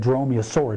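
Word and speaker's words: dromaeosaur: this giant Raptor or as you said dromeosaur which is the correct pronunciation for those that family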